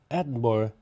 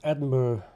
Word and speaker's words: Edinburgh: It's Edinburgh, not Edinburgh, as I've heard the bloody Americans say. Edinburgh, Edinburgh, it's pronounced.